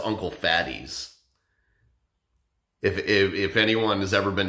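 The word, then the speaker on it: Uncle Fatih's: look at it, it looks like it says Uncle Faith's, but when you look closer at it, it's like I think it's like a Middle Eastern name or something, but it's pronounced Uncle Fatty's.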